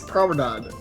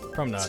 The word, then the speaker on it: Promenade: It's Promenade. Promenade. Bro, Promenade. we had Promenade. this discussion. It's not marmalade. It's Promenade. Promenade. You don't say lemonade Hey.